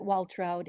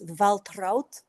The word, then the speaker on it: Waltraud: Well, in America we pronounce it Waltroud. In German it's Valtrout.